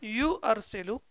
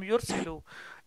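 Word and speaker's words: يُرْسِلُ: So it is not yu'arsilu, it has become yursilu.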